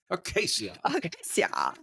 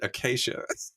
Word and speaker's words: acacia: aasia peas fruits okay you said Acacia like Matthew Barry acaia I'd pronounce it Acacia acaia hard into that I did that soft sea sound I don't it I